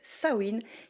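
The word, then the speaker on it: Samhain: Avant les citrouilles et les bonbons, on célébrait dans les pays celtes Sain qui ne s'écrit pas du tout comme ça se prononce l'ancienne fête païenne dédiée aux morts et aux esprits.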